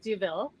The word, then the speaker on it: Douville: words oh sure so my name i pronounce duville deville and i'm ceo of